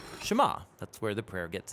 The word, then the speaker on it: Shema: Now, the first word of the Shema is hear or listen, which in Hebrew is pronounced Shema.